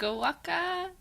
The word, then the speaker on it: Waque: Waque Waque. Waque Waque I answer to, as well as Waque, Waggy, Wake, Woke, Week. The correct pronunciation is Waque, but there should actually be a accent aigu over the E.